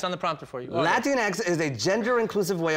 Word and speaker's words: Latinx: an article last night and it said latinx Latin like Kleenex yeah like Kleenex Latin Latin